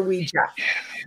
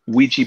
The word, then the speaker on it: Ouija: So we were talking about the way you pronounce Ouija. What do you prefer that people say, Ouija or Ouija? If I'm talking about today's Ouija boards with people, I say Ouija.